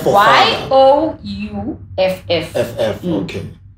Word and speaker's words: Youff: Well, what F, like, is an F for Y-O-U-F-F. F-F, okay. It's pronounced Youff. So it's like youth, but youth.